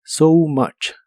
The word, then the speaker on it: so much: Por qué trabajas tanto la o de so se pronuncia como o u y la u de much se pronuncia como una a so much so much y usaremos